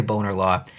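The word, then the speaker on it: Bonar Law: this spot but I'm pretty sure it's pronounced boner law that's not how I pronounce it and that's probably not how you pronounce it it's boner law like I say boner law which is hilarious so good start here good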